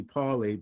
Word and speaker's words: Pauli: wolfgang powley that's pronounced pali because he was originally from vienna austria so that's the german pronunciation in english you'll be paulie but i'm pronouncing it